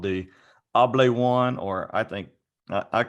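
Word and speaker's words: Hable One: to represent called the able one or I think I I call it the able one because it's h-a-b-l-e and I just think the H is silent and then o-n-e able one and it's a device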